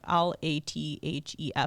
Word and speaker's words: Latif: He pronounces his name Latif, Lathef. I would pronounce it Latif.